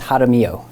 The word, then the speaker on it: Jaramillo: let me just say how do you pronounce your last name so my last name is jaramillo uh so the j is like an h